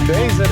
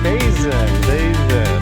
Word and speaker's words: Bazan: Bazin, is that rhymes with amazing? Bazin, all right?